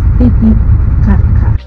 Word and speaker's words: Titicaca: But if we say Titicaca, it's different. But don't be worried. You can say Titicaca. I know it's hard, it's difficult also for me. Usually I say Titicaca, yeah? But the correct pronunciation is Titicaca.